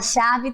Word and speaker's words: chave: A chave termina com E, porém tem o som de I.